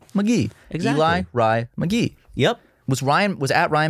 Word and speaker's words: Ellery: It's just Eli Rye McGee because it's... That's how I do it. Yep. I used to say Ellery McGee, mm-hmm. like celery, but for me it's Eli, like middle name, Rye, yeah, little short in first name, McGee.